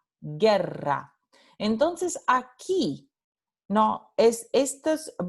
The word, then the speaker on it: guerra: Por ejemplo, la palabra guerra tiene esta letra U que no se pronuncia, porque la palabra se pronuncia G-E-R-A, guerra.